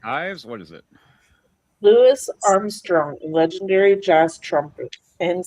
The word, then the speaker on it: Louis: Louis Armstrong, legendary jazz trumpet and singer. Louis Armstrong. Okay. The S is actually silent in his name. It's Louis Armstrong.